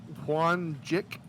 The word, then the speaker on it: Whon Jick: JICK. Okay. Like Wick, but with a J.